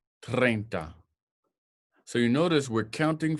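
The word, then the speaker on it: treinta: Our next one is 30 in English, but in Spanish, it's 30. 30. 30.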